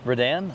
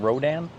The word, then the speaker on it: Redan: actually you know what it is it's Rodan Redan it's a Redan it's r e d a n Redan Redan okay it's not Rodan no I looked it up okay I I